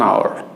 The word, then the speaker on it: hour: আইল have been practising English for half an আওয়ার, half an আওয়ার। এই আওয়ার শব্দটি অনেকে ভুল করে হাওয়ার বলেন, যেমন অনার্সে পড়ে অনেকে অনার্স, এটাকে উচ্চারণ অনেকে আমরা ভুল করে হনার্স বলে ফেলি।